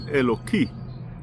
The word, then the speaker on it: Eloki: the song, was written, it was Eloki, with a chirik.